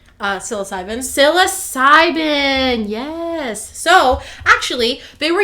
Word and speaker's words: psilocybin: mushroom i always say it wrong uh psilocybin psilocybin yes so actually they were using the red